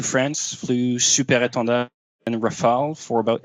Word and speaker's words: Rafale: English speaker says Raphael, but just Rafale.